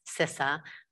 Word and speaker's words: CISA: first off thank you for pronouncing it correctly cesa i know it is a hotly debated topic but it is in fact sissa uh so what are we as you said